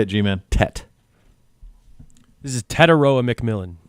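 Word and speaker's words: Tetairoa: This is Tetaroa McMillan. Tetaroa.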